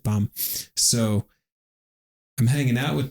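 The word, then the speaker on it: Bam: So, then his name was uh Bum, right? B A M, but pronounced it Bum.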